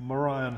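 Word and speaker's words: morion: 16th century tin that's german that one a morian helmet that's how it's pronounced and lots and lots of oriental ceramics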